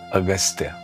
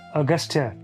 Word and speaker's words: Agastya: Agastya. Yeah, Augustia.